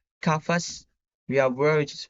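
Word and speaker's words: قفص: the initial C we have cage which is pronounced kafas we have word which is pronounced kafa and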